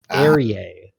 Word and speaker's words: Aerie: Aerie is how Aerie. Oh, God. apparently. I can never spell that.